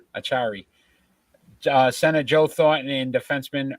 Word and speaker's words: Acciari: Maxim Marnin, center Nolan Acciari. No, I still said it wrong. Acciari.